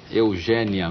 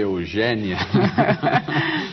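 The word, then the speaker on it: Eugénia: língua nós nossa língua Eugênia Mel Castro você deve ter percebido que eu fiz esforço aqui para dizer Eugênia e não Eugênia né e não Eugênia o seu nome se escreve com acento agudo Agudo todas as pessoas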